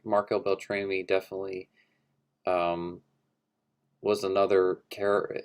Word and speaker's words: Marco Beltrami: that were definitely missing i like that marco marco beltrami came back to score scream for that's how you pronounce his name uh he scored all scream